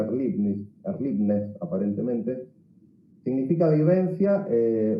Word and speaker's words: Erlebnis: palabra ni a la raíz alemana, Erlebnis, se pronuncia Erlebnis aparentemente, significa vivencia o experiencia vivida, ni tampoco como Erfahrung, es la experiencia acumulada.